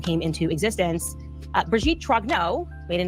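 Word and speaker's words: Trogneux: MK ultra program came into existence uh Breijgit Trogno made a name Trognau was born in Amian. So they say Trognau. Okay. So it's it's t r o g n u x they say trogno that's how she's pronounced it trogno.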